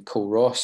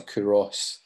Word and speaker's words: Culross: pictures were made in col ross or kuros i think is how it's pronounced which is quite tidal